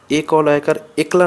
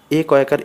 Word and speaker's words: একা: যুক্ত হয়ে নতুন পদ গঠিত হলে সেখানকার এককারের উচ্চারণ সাধারণত বিকৃত হয় যেমন এ ককার একা না পড়ে একা পড়বো পেঁচা না পড়ে প্যাঁচা